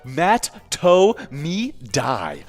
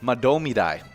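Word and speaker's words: Mahtomedi: Matamidi. Well, the common mispronunciation is Matt To Me Die. I missed that by maybe I got it right. But Matomidai. But we got the actual pronunciation was Madomidai.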